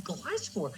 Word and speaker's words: Gliscor: Oh, You how did you not- pronounce it? I don't even know Gliscor. It's Gliscor.